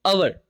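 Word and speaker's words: hour: Hand side में जो है आपके पास में अवर, एच ओ यू आर को आप क्या प्रोनाउंस करते हो, क्या पढ़ते हो?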